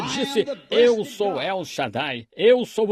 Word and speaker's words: shad: em nome de El Shadai o todo poderoso na verdade a palavra a palavra Hebraica shad sh a d alguns pronunciam Shade shad significa seio como